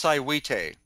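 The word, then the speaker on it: Saihuite: I can't pronounce it s a i h UI T that's siwi okay and now this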